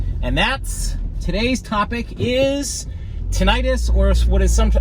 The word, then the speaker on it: tinnitus: And that's, today's topic is tinnitus, or what is how it's sometimes pronounced is tinnitus.